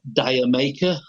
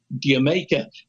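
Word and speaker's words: D'yer Mak'er: out in the u.s people were referring to as dire maker diamaka was another one you know and planting he had to explain ins really once and he said i can't believe i'm having to explain this but it's jamaica it's it's from that word play of the country jamaican did you make it but that's where that comes from it was they must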